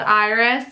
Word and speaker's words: Iris: Iris is like spelled iris, but it's iris.